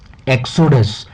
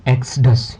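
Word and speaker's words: exodus: इसके बाद में नेक्स्ट है एक्सोडस। एक्सोडस इट इज a noun. ये एक नाउन है और इसको हम प्रोनाउंस किस तरीके से करते हैं, एक्सडस या एक्सोडस भी बोल सकते हैं।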